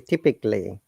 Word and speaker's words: typically: this typically not typically typically typically very good remember if there is a l l y a is always silent typically typically consisting of